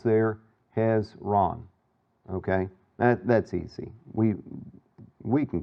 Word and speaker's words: Hezron: And so here we've got Hezron, and if you just think, you know, about syllables there, Hezron.